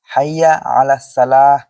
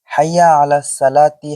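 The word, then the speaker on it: حي على الصلاة: তবে উভয় বাক্যের শেষাক্ষর ওয়াকফ এর ন্যায় সাকিন করা। যেমন হাইয়া আলাস সালাহ। হাইয়া আলাস সালাহ। হাইয়া আলাল ফালাহ হাইয়া আলাল ফালাহ কাদ কামাতিস সালাহ কাদ কামাতিস সালাহ ইত্যাদি অথচ কোন কোন লোক শব্দগুলোর শেষাক্ষর সাকিন করে পড়ার পরিবর্তে মূল হারাকাত দিয়েও পড়ে থাকেন যেমন হাইয়া আলাস সালাতি হাইয়া আলা সালা কাদকামাতি সালাতু কাদাকামাতি সালা ইত্যাদি এভাবে শেষাক্ষর হারাকাত উচ্চারণ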